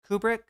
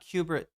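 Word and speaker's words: Kubrick: Kubri, not cubit.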